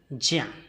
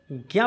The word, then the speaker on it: ज्या: अब देखते हैं ज्या। कुछ लोग इसको ज्ञा पढ़ देते हैं परंतु सही उच्चारण ज्या होता है।